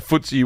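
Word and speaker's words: FTSE: then you got the footsy J what's the footy it's pronounced like footsy footsy stock let see what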